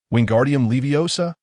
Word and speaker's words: Wingardium Leviosa: Wingardium leviosa. Pay attention to the pronunciation of O. It needs to be slightly elongated.